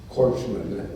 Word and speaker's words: corpsmen: There's no greater love than the Marines and their corpsmen, as that is pronounced.